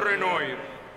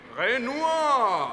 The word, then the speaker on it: Renoir: igual todo el mundo renoir se escribe Así sí pero no se pronuncia así se dice genua Ah entonces es Ren